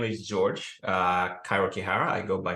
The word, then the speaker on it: Kairu: Again, my name is George, Kairu Kihara. I go by Cairo. It's pronounced as the capital city of Egypt.